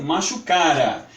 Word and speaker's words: machucara: macho cara ou P Note que é sem acento porque senão fica machucar a então a pronúncia é macho cara o que significa esse